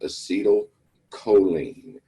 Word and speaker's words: acetylcholine: and the other one is pronounced acetylcholine.